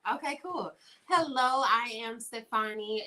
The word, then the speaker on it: Stefani: Hello, I am Stefani. It's pronounced Stefani like Gwen Stefani.